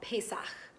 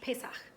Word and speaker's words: Pesach: Hebrew that we call Pesach. It's got that sound at the end, ch, that you have all practiced so much, Pesach.